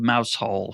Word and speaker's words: Mousehole: It's spelled mouse hole for those of you keeping score at home, but it's pronounced Mousehole.